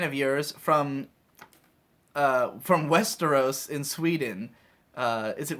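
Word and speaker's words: Västerås: pretty recent fan of yours from uh from Westeros in Sweden uh is it really called Westeros it says it's pronounced Westeros as as in the The Game of Thrones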